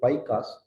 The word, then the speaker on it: Paika: தி பைகாஸ் pronounced பைகா literally food soldiers.